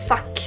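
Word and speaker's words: fack: Another word is fuck. It's not spelled like the English word.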